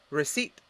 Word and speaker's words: receipt: but is it yours next word receipt so the next two words are words that don't start with p that are silence but that have p's somewhere in the middle of the word but still those p's are silent so repeat receipt what's